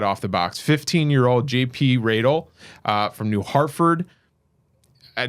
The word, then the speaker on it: Radel: See, Rael like cradle. That's the biggest once we get over that hump with pronouncing the name.